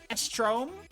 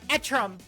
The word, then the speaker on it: Etrum: Estrom? Ah! Ba ba ba ba da. Help! How do you want your name to be pronounced? It's Etrum.